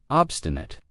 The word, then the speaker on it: obstinate: Obstinate. And notice how I pronounce it with a schwa at the end. Obstinate. Not obstinate.